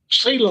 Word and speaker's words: Clio: Folks up around Clio, or Kello? How do you say that? Cello? CeeLo.